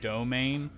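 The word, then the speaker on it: demesne: is to domain like i know it looks like what it looks like but it's supposed to be pronounced like domain um i don't know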